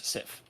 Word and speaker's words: Sif: You have, I think, the Warriors 3 and Sif. Is that how you say it? Or just, Yes, Sif.